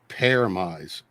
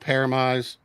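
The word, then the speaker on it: Pyramaze: of my favorite albums is a band called paramise paramize and um that's kind of a uh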